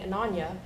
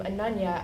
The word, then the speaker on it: Ananya: It also didn't help that after she heard someone call me Ananya, my best friend Shyla said, "Ha, your name rhymes with lasagna."